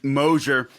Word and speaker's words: Mosher: again I'm joined by my guest uh Stephen moer uh and guys you're going to want to